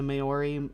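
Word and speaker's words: Māori: how to say it it is ma but the re is like fancy sounding not quite rolling but almost already uh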